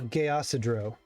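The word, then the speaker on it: Geasidreaux: more time for me so I get the pronunciation uh g-e-a -s-i no the the word itself oh gay acidro all right sounds delicious it actually sounds like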